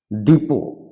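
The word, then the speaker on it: depot: letter will be silent যেমন listen মানে শোনা ডিপো এখানে কিন্তু সাইলেন্ট থাকবে ডিপো মানে ডিপো বুক মানে ফুলের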